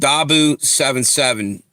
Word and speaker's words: Dahboo77: Dabu77 had it on his channel. It's spelled DAHBOO77.